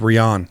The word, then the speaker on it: Ryan: Before you go any further, I should let you know that Ryan's name is actually pronounced Rian. Oh, it's Rian.